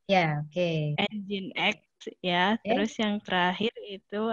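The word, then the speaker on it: nginx: Kemudian yang ketiganya ada, bacanya apa itu, Nging? Kemudian X. Ya, oke. Engine X ya.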